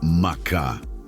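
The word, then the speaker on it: מחה: Para aprofundarmos neste conceito, podemos olhar para a palavra hebraica macha, se pronuncia macá.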